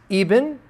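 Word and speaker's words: ابن: for son there is even okay is spelled Ibn in English but it's the word even which can be used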